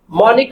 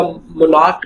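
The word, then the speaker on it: monarch: chasing the beautiful मॉनिक मोनिक का मतलब यहां पर होता है इट अ टाइप बादशाह को वैसे बोलते हैं ठीक हो गया मनिक इसको मोनर या मोनार्क नहीं प्रोनाउंस करेंगे मोनिक butterfly it इज द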